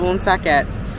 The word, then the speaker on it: Woonsocket: So earlier in my video, I pronounced it wrong. this little town is called Woonsocket, actually from the French, but you can just say Woonsocket as well.